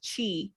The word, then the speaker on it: qi: And then the QI is pronounced chi, not key.